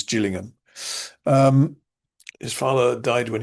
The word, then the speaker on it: Gillingham: Uh there is another uh place spelled the same in England, but that's Gillingham, not Gillingham, but anyway, the one in Kent is Gillingham.